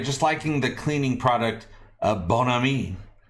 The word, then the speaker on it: Bon Ami: Archmage Frey, just liking the cleaning product Bon Ami. They officially pronounce it Bon Ami. Kind of like you would assume Brad Pitt from Inglourious Bastards would say it.